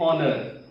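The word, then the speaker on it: honor: एन ऑनर, H silent है, यहाँ पर इसको नहीं पढ़ा जाता, ठीक है।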